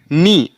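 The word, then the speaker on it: knee: के एन डल ई नी ना कि कनी मीस घुटना ऐसे के एन आई एफ आई नाइफ ना कि क नाइफ य मतलब एन से पहले अगर के आए तो के हमेशा साइलेंट हो जाता है यह हमारा था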